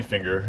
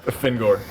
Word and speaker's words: Fingor: You can call me Finger if you want. Fingor, preferably. Okay, yeah.